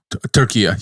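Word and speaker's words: Türkiye: that turkey wants people the English speakers to refer to as turkey how do you say it again turkia yeah it's the same it's the same word in Turkish yeah it's the that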